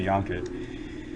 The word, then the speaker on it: Janke: In German would say Janke.